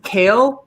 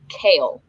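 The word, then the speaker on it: Chaol: tedious his name is kale like the leafy vegetable so it's yellowed it's spelled c-h-a-o-l but it's pronounced kale oh man that's a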